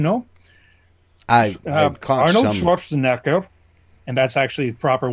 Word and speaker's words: Schwarzenegger: Schwarzenegger, and that's actually the proper way of pronouncing it is Schwarzenegger, not Schwarzenegger.